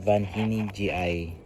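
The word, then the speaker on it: vanhyningii: And we have here an Ainanta Van Hining GI.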